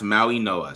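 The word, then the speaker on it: Mauigoa: Pronounce Maui Noah.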